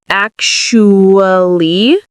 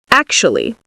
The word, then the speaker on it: actually: Some people say it in 4 syllables, ac-shu-ly, ac-shu-ly. Other people say it in 3 syllables, actually.